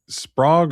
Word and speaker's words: Sprague: Is it Sprague or Sprague? Sprague. Sprague. Shane had texted me Sprague with a long A. I was thinking it was Sprague because my middle name is, spelled the same way.